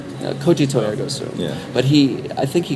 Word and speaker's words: Cogito ergo sum: Cognitive ergo sum. Cogito ergo sum.